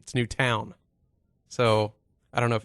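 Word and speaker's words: Newtown: It's not Newton. I always spelled it Newton. I thought of Fig Newton. It's New Town.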